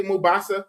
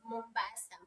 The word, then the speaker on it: Mombasa: How do you say Mubasa? Mombasa. Mbasa. Mombasa. How do you pronounce it again?